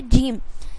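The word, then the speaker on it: gym: क्या है, rule number 1, यदि किसी वर्ड में जी के बाद ई आई वाई हो तो जी का उच्चारण हम यानी जी को प्रोनाउंस हम ज ही करेंगे। एग्जाम्पल में देखिए क्या है यहाँ पे, जिम, तो जी से हो गया ज, वाई से हो गया ई, तो जी, एम से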